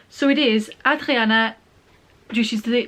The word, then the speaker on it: Hadriana: And in the end I settled for Adriana because it mentions she's French, and from what little French I remember, French don't pronounce the H's, so basically, I'm just